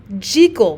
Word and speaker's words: Jekyll: Now, Stevenson intended Jekyll to be pronounced Jekyll with that long E sound as a Scot would, because Hyde and Jekyll sounds like hide and seek. Jeek, seek.